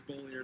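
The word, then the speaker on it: Beaulieu: Bullier. I think it's Bulliu. He says Bullier, so I guess it's user's choice.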